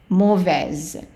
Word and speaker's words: mauvais: So here the AU is pronounced as an O. So in French, AU and EAU are all pronounced O. So mauvais, the AI again is an A, mauvais.